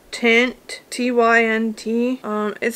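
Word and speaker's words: Tynt: box and i think the brand is called tint t-y-n-t um it says it's a haze smokey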